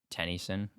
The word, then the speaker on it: Tennyson: Tennyson. Tennyson? It's spelled like Gwen Tennyson, but it's like Tenny son.